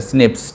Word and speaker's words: SNP: वैसे मैं बता दूं कि SNP को प्रोनाउंस जो किया गया है वो है SNIPS से। ठीक है, प्रोनाउंसिएशन इसका SNIPS है, स्निप्स।